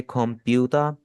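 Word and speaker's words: コンピューター: यहां पर आप आ को भी डबल कर लेंगे। तो ये इस तरह पढ़ा जाएगा। आप में से खुप प्यूता शॉर्ट करके नहीं पढ़ना।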